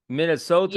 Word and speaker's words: Minnesota: Minnesota.